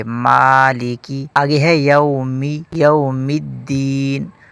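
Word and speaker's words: مالك: لوگ اسے پڑھتے ہیں مالیکی جو کہ غلط ہے، میم کے اوپر کھڑا زبر ہے، اس کو ایک الف کے برابر کھینچیں گے، مالیکی۔ آگے ہے یومی، یوم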